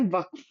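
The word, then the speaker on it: वक़्फ़: तो देखो जो व है वो उसको अपन प्रोनाउंस कैसे करते हैं वफ। व तो पहले तो यह चीज याद रखना वफ बोलते हैं इसको ठीक है यह एक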